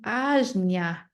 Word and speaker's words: Ajna: The third eye chakra, pronounced as the Ajna chakra.